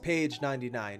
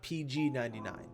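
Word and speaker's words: pg.99: of emo number one it's pronounced Paige 99 not PG 99 number two it's Ian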